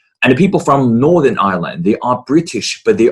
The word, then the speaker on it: Ireland: And the people from Northern Ireland, they are British, but they are not English.